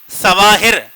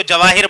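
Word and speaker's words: Cevahir: مال ہے جواہر مال، تو اس کا تلفظ وہ سی سے ہی لکھتے ہیں، سین کے ساتھ، یعنی سواہر، ہم لوگ اس کو سواہر پڑھ لے ہوں گے لیکن وہ بولیں گے یہ جیم ہے، یعنی ہم اس کو جواہر پڑھیں گے، حالانکہ لکھنے میں کیا آ رہا ہے لیکن وہ پڑھ کے آ رہا ہے۔ تو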